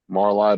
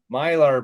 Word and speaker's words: Mylar: Little Marley bag. Marley bags? These are the Marley, tires. whatever the fuck Marla. you God, pronounce now it. you got me saying it. these are the tires. Mylar bags.